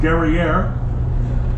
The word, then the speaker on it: Guerriere: 1812 when she encountered the HMS Guerriere, which we're all noticing rhymes with the word derriere, which in fact was